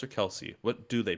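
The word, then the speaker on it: Kelce: darren waller and travis kels uh is it kellis or kelsey what do they pronounce it's apparently kels but it's else yeah everyone says kelsey but he like everybody's still saying kelsey yeah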